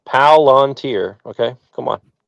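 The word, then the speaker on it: Palantir: Um, it's one word, three syllables. Palanteer.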